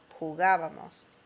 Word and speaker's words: jugábamos: Notice the accent on the nosotros form, very important. It affects the way you pronounce it. Abamos, like jugábamos.